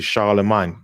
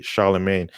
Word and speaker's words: Charlemagne: According to this scenario, the entire Carolingian period, including the figure of Charlemagne, or it's actually Charlemagne, but I know Americans say Charlemagne, is Charlemagne is a